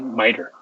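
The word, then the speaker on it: MITRE: framework called miter um m-i-t-r-e but you pronounce it miter so if you don't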